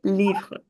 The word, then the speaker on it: livres: The first thing is that S in the end is never pronounced in French.